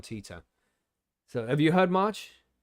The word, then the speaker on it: Titor: in the chat no John tighter or tea tour it depends it depends on the punctuation the pro pronunciation you know t-o-t-i-o-r God damn t-i-t-o-r is how you would spell his name John Tita so have you heard